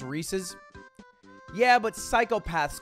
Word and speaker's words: Reese's: mixed peanut butter and chocolate so seamlessly it's pronounced reese's yeah but psychopaths call it that because i was six when i found out about reese's and i said reese's and that's what he said in the schoolyard